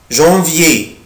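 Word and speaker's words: janvier: جانفيي جانفيي جانفيي, بنطقه كده, جان جان جانفيي جانفيي يناير.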